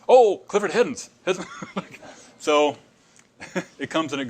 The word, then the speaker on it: Heddins: an S on there, half the time he wouldn't pronounce the S. He would say, "I'm Clifford Heddin." And one time I said, "Grandpa, where's that S?" "Oh, Clifford Heddins."